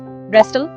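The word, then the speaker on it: wrestle: सिक्स रेस्टल W silent है।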